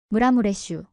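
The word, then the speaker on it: Maramureș: 아나 언니, 이거 어떻게 발음해요? 6살 된 미르첼라가 물어봤어요. 이렇게 해봐. 무라무레슈. 무라무레슈.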